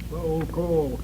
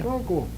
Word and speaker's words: Sokoll: so cold. Soul You can read Coal. better than that. Sokoll. Sokoll. Sokoll. So cool. Oh, let's let him pronounce that word correctly for you. So cool.